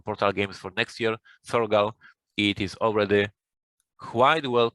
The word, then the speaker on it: Thorgal: But yes, for our English-speaking listeners, it is Thorgal. Thorgal.